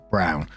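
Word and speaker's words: Braun: r a u n but it's pronounced Brown wife of probably one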